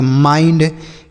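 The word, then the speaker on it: mind: अगर आई के बाद एन डी या एल डी रहे।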